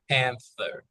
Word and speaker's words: panther: the teeth very good panther panther unvoiced good pan now clothing